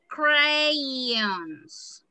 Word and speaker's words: crayons: You don't say crayons. You say crayons. All right. Crayons. I will write crayons. It's because some people say this. It's crayons. It's eons. The last crayons.